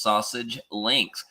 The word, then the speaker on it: SASG Links: Yes, it is pronounced sausage links.